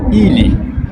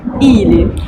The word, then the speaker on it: Или: rien à voir avec le N, je le reprononce, c'est un I. И. Comme par exemple dans le mot ili, Или.